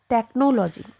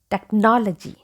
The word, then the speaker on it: technology: it's not not technology so this o doesn't have sound like we have in no okay it's a like we have in awesome so how will you pronounce Tech no techn G technology technology technology okay stress is given on N here got it so I